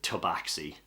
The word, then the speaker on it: Tabaxi: Tabias Axi, the Tabaxi.